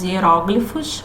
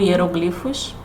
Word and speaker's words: hieróglifos: pelos egípcios eram os hieróglifos ou hieróglifos as duas pronúncias estão certas mas também se utilizavam